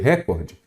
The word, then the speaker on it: recorde: você vai falar recorde recorde então a sílaba tônica é qual é o Core a sílaba tônica é